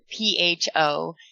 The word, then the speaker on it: pho: So that's the name of the place, spelled P-H-O, Keene, great. And of course, in Vietnamese, P-H-O is pronounced as pho. So when it's all put together, it is meant to sound like profanity, according to, the city